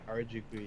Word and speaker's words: Harajuku: I always pronounce like booyah, and I can't pronounce that word. Harajuku? Is that it right? Harajuku, yeah.